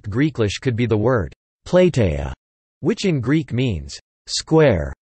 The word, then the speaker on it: platia: is the fact that, phonetically, the word square in Greek sounds exactly like this, plateia, since a is now pronounced I, as an instance of iodicism, but not for the phonology and the historical or learned pronunciation of the ancient Greek language, where it was plateia.